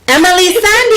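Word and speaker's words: Emeli Sandé: Emily Sandy, I was right.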